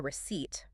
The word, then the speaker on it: receipt: After you pay, you'll almost always receive a receipt. And here's another word with a silent letter, believe it or not. Oh, which one? The P in receipt. It's entirely silent.